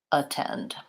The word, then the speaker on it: attend: So in the dictionary, it shows you the vowel schwa. That's one way you can tell that that's the unstressed syllable. And then they put a line in the dictionary before the stressed syllable to tell you this is the important syllable. This is the one to stretch and hold longer, attend. So try at, attend.